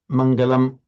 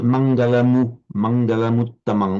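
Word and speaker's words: maṅgalaṃ: I detected a very slight pause as if you were almost putting mangalam but it would be recited flowing mangaluang almost as if the moo this word ended in a moo.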